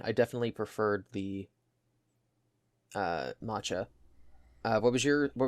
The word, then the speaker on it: matcha: flavors the mocha tea I keep saying mocha it's Machi Mach how do you say it matcha matcha um it's a very